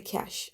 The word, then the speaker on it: cache: So let's talk about the cache, and it's pronounced cache as in money.